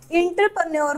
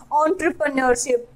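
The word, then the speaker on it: entrepreneurship: और इंटरप्रेन्योर बोलते हैं, बट इट्स नॉट अ इंटरप्रेन्योर, इट्स एन एंटरप्रेन्योरशिप, सो we should pronounce it correctly, like एंटरप्रेन्योरशिप, इट्स नॉट a inter, it's एंटरप्रेन्योरशिप।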